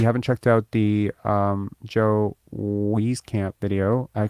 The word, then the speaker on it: Wieskamp: Why does he call himself Wheezy if his last name is Wisey? And then I was just like, I don't know, my brain just clued in on. I was like, oh shit, I've been saying it wrong the whole time, right?